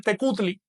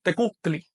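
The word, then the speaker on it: tecuhtli: La palabra señor te con arreglo a las letras que hay ahí se dice tecutli, pero en agua no se dice tecutli, sino tecutli.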